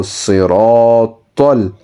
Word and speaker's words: صراط: So ra and ta is slightly rounded mouth. So صراط.